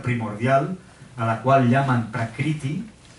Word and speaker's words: Prakriti: Prakriti, esto es un punto debajo de la R, se pronuncia como una vocal.